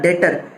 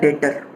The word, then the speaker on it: debtor: ठीक है, ये नया टर्म यूज़ करा, डेटर, DEBTOR, इसमें बी साइलेंट होता है तो ये कहलाएगा डेटर। तो डेटर कौन हुआ, a person to whom credit sales are made.